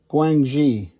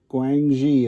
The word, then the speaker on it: Guangxi: I'm going to fly it up to, oh boy, I'm going to butcher these. Guangxi. Guangxi is the correct answer.